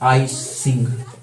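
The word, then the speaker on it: I-tsing: Chinese traveller, एक चीनी यात्री भारत का दौरा किए तो उसका नाम था आई सिंह। लिखते हैं STING, लेकिन S होता है साइलेंट, है ना।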